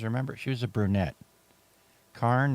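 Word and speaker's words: Carne: K is spelled C A R N E.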